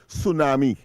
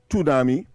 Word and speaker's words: tsunami: Like take for instance the word tsunami, it begins with with a t. So you don't say tsunami.